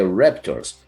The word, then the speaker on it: RXPTRS: Outra banda que vale a pena conferir é Raptors, que se escreve RXPTRS.